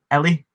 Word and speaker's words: Ellie: Yeah, so it's Ellie. Just it's like Emily, but like just the end.